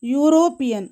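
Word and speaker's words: European: ஸோ அதை pronounce பண்ணும்போது நமக்கு கிடைக்கிறது யூரோப்பியன்.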